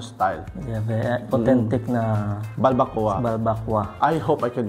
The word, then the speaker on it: Balbacua: It's pronounced actually as Balbacua. Balbacua. So, Balbacua. Yun ang social ba? Kwa. Balbacua. Pero it's Balbacua. Yun na ang pag-pronounce sa mga Bisaya, Balbacua.